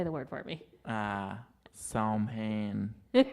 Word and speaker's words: Samhain: and some people say Sam hey Sam hey because people pronounce it the way it looks here in America right right which is wrong shout out to my